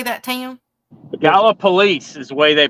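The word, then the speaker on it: Gallipolis: how do you say that to you the gala police is the way they pronounce it there in in their town the people from there we just we call it gallopolis if you're not from there gallopolis hey I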